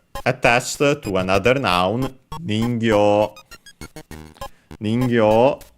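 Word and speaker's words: 人形: Ningyo, I think it's unaccented, but we'll check, means doll, puppet. Let's see, yes, unaccented.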